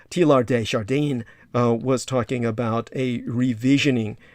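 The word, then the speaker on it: Teilhard de Chardin: and tlr d shardin you actually pronounced his name t lar uh correctly in the french you would silence the d t lar de chardin was talking about a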